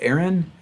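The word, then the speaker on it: ARIN: registry for internet numbers a-r-i-n pronounced aaron like myself like my name and so that's unicast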